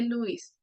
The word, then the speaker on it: Lewis: Bueno e nos dijo No no se dice se dice Luis y me quedé con